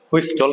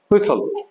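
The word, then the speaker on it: whistle: এটাকে আমরা অনেকেই বলবো হুইস্টল কিন্তু এখানে টির উচ্চারণটা হবে না এটা হবে হুইসল হুইসল হুইসল পরেরটা আরেকটা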